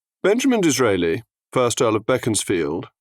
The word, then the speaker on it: Beaconsfield: disraeli first our love beckons field war Beaconsfield as he pronounced it 21st of December 1804